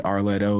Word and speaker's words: R Letto: It's like a 3 syllable thing, like Beyonce, Arletto.